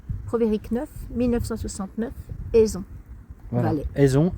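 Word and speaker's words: Eison: Oui, mais comment ça se prononce ? Pro V E R I C C Provérique 969 Aison.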